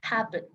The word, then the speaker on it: happen: Ejemplo, tenemos el verbo happen, significa suceder. ¿Cómo va a funcionar? Mira, cuando tú pronuncias este verbo, el estrés viene en hap.